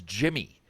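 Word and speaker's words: Yimi: in your cap but he actually prefers jimmy it's it's the proper way of pronouncing his name so i mean i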